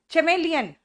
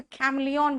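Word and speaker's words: chameleon: फिर एक बायो की टीचर कहती है चेमेलियन, अब चेमेलियन क्या होता है, हम लोग देखा क्या, तो कैमलियन को, गिरगिट को वो चमेलियन बोल रही थी, और ये पैराशूट को पैराचूट बोल रही थी।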